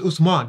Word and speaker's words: Usman: No, it's US. US. Yeah. It's Usman. That's how you say it.